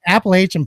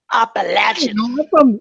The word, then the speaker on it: Appalachian: But hey, I want to know more about Appalachian pie. Yeah, don't ever fucking pronounce it that way again, motherfucker. Isn't it Appalachian pie? Appalachian. I'm a Yankee, so I don't know how they say it over there.